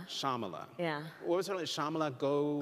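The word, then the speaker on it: Shyamala: name of your mother shamala so the Y is silent shamala shamala yeah what was shamala go goalen goalen uhhuh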